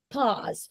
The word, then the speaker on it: pause: Pause, like comme comme A, pause. In French, A-U is O. So we say it like O, but it's not. In French, in English, is A, pause.